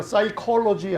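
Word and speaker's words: psychology: 사이콜로지 할 때 PSY인데 P자는 발음이 안 나요.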